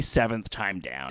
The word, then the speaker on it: Seventh Time Down: edown seven evth edown is it seventh or is it 71th it's supposed to be seventh time down it looks like it